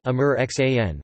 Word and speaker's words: Aamir Khan: Muhammad Aamir Hussain Khan, pronounced Amir Xan, born 14 March 1965, widely known as Aamir Khan, is an Indian film actor, filmmaker and television talk show host.